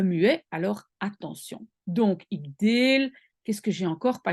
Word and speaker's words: deel: Alors c'est ik deel. Deux E. Pourquoi? Parce qu'en fait, c'est une syllabe fermée. Si je ne mets qu'un E, je vais prononcer ik del.